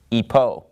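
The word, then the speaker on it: ὑπό: rough breathing mark so in the ancient Greek pronunciation you know it started with an H sound we're of course using modern Greek pronunciation so we would pronounce this word Ipoh but it comes from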